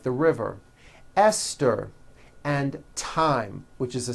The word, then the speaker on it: Esther: like to point out although these next words and names are spelled with a t H they are pronounced as if they were spelled with a normal T TT like that and